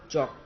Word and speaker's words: chalk: चॉक, एल लिखना है लेकिन बोलेंगे हम चॉक।